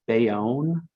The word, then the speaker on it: Bayonne: things in the chat so jennifer has a pronunciation note it's bayonne apparently okay see i've never lived in the